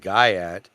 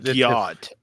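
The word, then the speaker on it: gyatt: Join the hilarious adventures of Riz, Baby Gronk, and Guyat as they reach level 10 of Ohio Skibbity Toilet. It's pronounced Gyat, Oh, okay.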